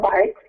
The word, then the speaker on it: Buycks: okay well first off my name is Janelle bikes Fally pronounced b b i k and I'm actually